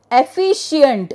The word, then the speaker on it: efficient: Then efficient, sure. E-F-F-I-C, it is not S-H but C-I because it is sure, okay, the pronunciation is sure of C, we put a I here, I-E-N-T, efficient.